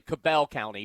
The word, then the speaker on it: Cabell County: Yes, that It's actually Cabell County, but that's okay, you know.